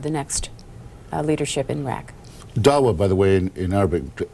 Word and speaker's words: Dawa: say that a member of the, is it Dawa? Is that how that's pronounced? Yes. The Dawa party, who was at the Sunday meetings when